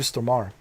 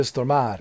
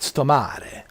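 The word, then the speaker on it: Stormare: That's Peter Stomar. Pistoar. People say, "How do you pronounce pronounce his name? Is it Ptormare or Stomar?" Peter Stomar. Peter Stomar. Not Stomare. Stomar, but I call him Stomar.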